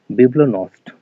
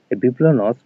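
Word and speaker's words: bibliognost: আমরা বলছি বিব্লো ক্লেপ্টোম্যানিয়া বিব্লো নষ্ট এখানে জি এর উচ্চারণটা কিন্তু হবে না জিটা উচ্চ বিব্লো নষ্ট এটা এসছে নষ্টে ফ্রম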